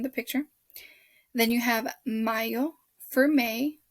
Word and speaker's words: mayo: picture then you have mayo for may don't pronounce it as mayo it's not the mayonnaise it's just for june